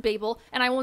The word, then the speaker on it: Babel: so excited also yes i know you can pronounce it babble but that's stupid it's pronounced babel and i will not be taking questions okay